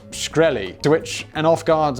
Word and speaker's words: Shkreli: for a second ted graudy asked is it pronounced shkreli to which an off guard martin replied yes